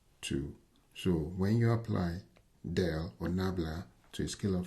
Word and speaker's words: del: with respect to Z and this symbol is pronounced Del cannot exist on alone because it is an